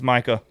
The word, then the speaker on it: Micha: it might be micah how you spell it m-i-c-h-a it's micah okay micah yep micah um